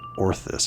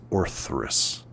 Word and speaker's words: Orthus: It's It's not Orthus, it's Orthus.